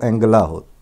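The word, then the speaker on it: Angela: پر کھڑا کر دیا۔ یہ میں اینجلا پڑھ رہا ہوں تو یہاں پر جو لوکل تلفظ ہے وہ اینگلا ہی بولتے ہیں، وہ جیم جو جہاں جی آتا ہے اس کو گاف سے ہی بولتے ہیں، جینیفر سٹراسے کو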